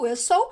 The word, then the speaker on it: whistle: Então aqui, ó, whistle. Esse Tzinho aqui, ele não é pronunciado. Ele existe aqui na grafia, na forma escrita, mas a gente não pronuncia. Então a forma correta de falar é whistle.